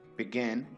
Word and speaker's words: begin: For example, begin, beginning. This verb has two syllables and the stress is on the final syllable.